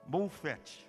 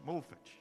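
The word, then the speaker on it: מופת: pudesse conhecer então no na língua hebraica a pronúncia de milagre é moffet moffet e pode significar demonstração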